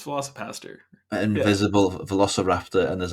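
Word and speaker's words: VelociPastor: Yeah, it's Velocipaster.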